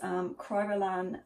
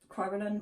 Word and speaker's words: Kryolan: dressing rooms and it's this here which is kryolan aquacolor Kryolan Kryolan how you pronounce it now : are a professional makeup